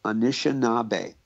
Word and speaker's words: Anishinaabe: But in our language, it's Anishinaabe.